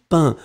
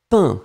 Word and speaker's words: peint: passé le participe passé c'est toujours peint p e y ntt final pas prononcé j'avais peint d'accord j'avais peint pas